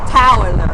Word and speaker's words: Towler: Tyler Tyler which is which is spelled tole r it's almost like saying Tyler but it's to Towler Toler so anyway he's from